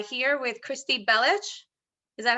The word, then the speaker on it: Kristy Belich: on my channel and I'm H here with Christy bellich is that how you say it perfect yeah